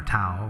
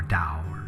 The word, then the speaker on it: Tao: coining the word Dao it's spelled to ta o and it's either towel or dower and take your pick depending on the dialect but Tao is is